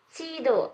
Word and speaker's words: 지도: Tadi kamu ngomongnya si ya? Sido, iya. Sido. Iya, betul. Kalau ini bacanya Cido. Ingat ya? Kayak gini.